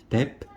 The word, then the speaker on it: debt: 끝에 t가 묵음이기 때문에 소리가 안 나기 때문에 debt, 이렇게 발음을 하긴 합니다. debt.